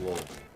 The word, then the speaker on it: Louisville: Yeah, it's pronounced Louisville.